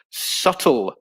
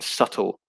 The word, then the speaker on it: subtle: p is not pronounced subtle is a very good one julie um yeah there's no b pronunciation is a uh in subtle so a silent b